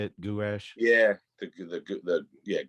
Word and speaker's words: gouache: week man is that how you say it gouache yeah the good the yeah gosh just something